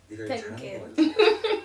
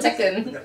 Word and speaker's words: Tekken: Playing Tenkin. Tenkin. I think I said it wrong. Tekken.